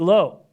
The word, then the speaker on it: Lowe: Diaz lat or that's Nate low right that's low not loud that's Brandon loud Nate low same last name but pronounced differently so Meadows Diaz Lowe